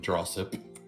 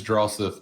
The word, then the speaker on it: Drossith: Where do you think we draw our powers from, Drossip? It is Drossith, but I have to mispronounce words, remember?